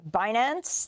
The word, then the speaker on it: Binance: billion dollar investment in the crypto exchange, you pronounce it, Binance.